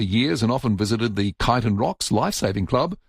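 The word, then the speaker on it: Chiton: Um Bev says, "I lived in Port Elliot for years and often visited the Kiton Rocks Life-Saving Club, always pronounced as Kitan."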